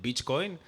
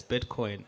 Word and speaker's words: Bitcoin: And I'm like, "Adam, you gringo. It's Bitcoin." That's how they say it.